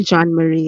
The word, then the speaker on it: Jean-Marie: a french name um the way you're pronouncing it is fine three is fine jean-marie is fine i'm happy with that